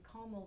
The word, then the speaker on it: caramel: caramel well it's caramel because carel just ignores an a see and Lauren said it's carel me and DJ said it's caramel yeah so yeah whoever says calm well I I I feel like pronouncing it Cal will just IGN a letter which is bad um but yeah that that that's a regional variation right I think there